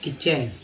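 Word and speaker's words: kitchen: रसोई घर, किचन, की TCH को जो है TCH को च पढ़ते हैं, ये लगा हुआ है इसलिए किचन।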